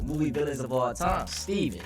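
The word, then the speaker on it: Stephen: Someone I consider to be one of the most evil movie villains of all time, Steven. But throughout this video, I call him Stefan because it's spelled Stefan.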